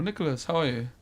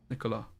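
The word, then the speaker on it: Nicolas: are you Mr Nico Nicholas you don't pronounce the S right Nicola I'm getting there mate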